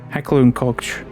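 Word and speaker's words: Heckler & Koch: Now, I never know how to pronounce this because it's German. I may need to get the symbol or something, or written down on a gun that they've made, but Hackler and Koch. It's not Koch.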